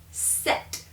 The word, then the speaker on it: sept: either uh D or six geese but it's pronounced CE here set and you're going well wait a minute I've